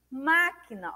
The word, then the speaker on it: máquina: Máquina. Olha só. A antepenúltima sílaba recebeu acento.